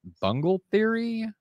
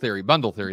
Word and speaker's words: bundle theory: heard of it, but is it bungle theory? Yeah. Where is bundle that? Theory. Bundle theory.